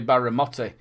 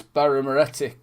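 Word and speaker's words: Birra Moretti: With a bit of I've been saying it wrong for ages. I always say Baramotti, but it's Baramoretti.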